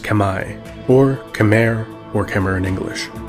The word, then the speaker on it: Khmer: the territory which is now modern-day Cambodia the Kemmer correctly pronounced Kamai or Khmer or Cameron English are an ancient